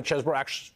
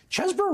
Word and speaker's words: Chesebro: the deal with Kenneth Chesebro is you. Right. What's the deal with him? The correct pronunciation is the cheese, because that's how he was known in law school.